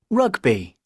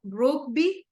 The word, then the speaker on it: rugby: tennis D handball a rugby okay so right here remember is no brookby but we pronounce it with like an O rugby okay that is the correct pronunciation let's move on into